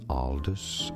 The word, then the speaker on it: Aldous: Aldous. So some say it more as Aldous, others more as Aldous.